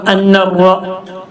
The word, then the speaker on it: أن الرسول: كيف يهدي الله قوما كفروا بعد إيمانهم وشهدوا أن الرسول شد الله نوران وشهدوا أن الرسول حق شد الله نوري കൂട്ടി വായിക്കുമ്പോൾ അന്നറ ല്ലേ, അലിഫും ലാമും ഉച്ചാരണത്തിൽ വരുന്നില്ല.